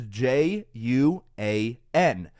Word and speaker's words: Juan: name in Spanish is j u a n so the J sound makes the H sound so this is why